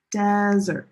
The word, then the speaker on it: desert: Desert. The stress is on the first syllable and dessert.